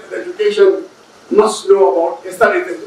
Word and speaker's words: ASER: Some people call it ASER, A-S-E-R. It's an abbreviation so that you can pronounce it the way you like. ASER or ASER. I like ASER.